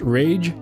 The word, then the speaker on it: Rach: Your pronunciation of my username is correct. It's pronounced Rage.